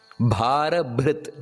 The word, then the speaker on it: ಭಾರಭೃತ್: ಭಾರಭೃತ್ ಕಥಿತೋ ಯೋಗಿ ಯೋಗಿಶ ಸರ್ವಕಾಮದಹ ಆಶ್ರಮ ಶ್ರಮಣಹ ಕ್ಷಾಮ ಸುಪರ್ಣೋ ವಾಯುವಾಹಕನಹ ಈ ಶ್ಲೋಕದಲ್ಲಿ ನಾವು ಉಚ್ಚಾರಣೆಯನ್ನು ಮಾಡಬೇಕಾದರೆ ಕೆಲವೊಂದು ಗಮನಿಸಬೇಕಾದಂತಹ ಅಂಶಗಳಿದೆ ಮೊದಲನೆಯದಾಗಿ ಮಹಾಪ್ರಾಣ ಭಾರಭೃತ್ ನೋಡಿ ಎರಡು ಮಹಾಪ್ರಾಣ ಕಥಿತು ಅಲ್ಲೂ ಕೂಡ ಮಹಾಪ್ರಾಣ